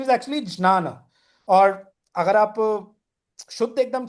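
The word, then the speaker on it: ज्ञान: But the starting word for both ना jnana, मतलब the proper pronunciation is actually jnana.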